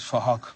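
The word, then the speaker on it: Phuc: His name is Fahok. We're spelt with a PH, so it sounds like Fahok.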